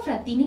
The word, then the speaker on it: Frattini: sala de estrategia ofrecimiento yo le digo frattini porque no lleva acento en la última y no sé habla